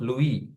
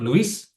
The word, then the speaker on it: Louis: Angle of Louis. Correct. That is the Angle. external angle of Louis. It's not Louis, it's Louis. L-O-U-I-S. Yes, S is silent.